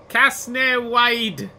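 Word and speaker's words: Casnewydd: So this is Newport, or as the locals pronounce it, Casnewide. Casnewide, which would work for a port, you know, where the fisher people do their fishing.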